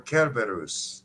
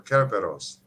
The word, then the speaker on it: Cerberus: dog yeah that's it cerberus or carberrus or caraperos depending on the old latin pronunciation we love you gamer